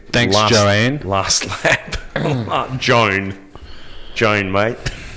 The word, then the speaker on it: Joan: uh you know thanks joanne last lap joan joan mate it's jo it's pronounced joan i call him joanne but the great thing about this race is